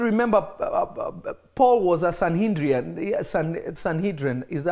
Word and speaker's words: Sanhedrin: you have to remember Paul was a sanhedrian Sanhedrin is that how you say it's sanhedra Sanhedrin this guy was a scholar of the scriptures